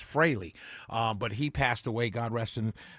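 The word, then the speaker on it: Frehley: Uh I I I I was going to say Freley until I listened to Mark Aaron show this morning and Deborah Green uh taught everybody how to correctly pronounce the last name. So it's Freley.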